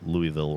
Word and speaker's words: Louisville: to Deputy that said I was pronouncing Louisville wrong and that it grates on every person who lives there. So I'm trying to say Louisville now because that's how they told me to say it.